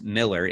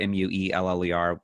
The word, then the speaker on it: Mueller: on the movie basic my last name is Miller mue ller some people pronounce of Mueller in the movie basic